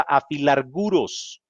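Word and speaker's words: ἀφιλάργυρος: Al decir el pasaje, sean vuestras costumbres sin avaricia, el escritor está usando una palabra griega que se pronuncia afilarguros.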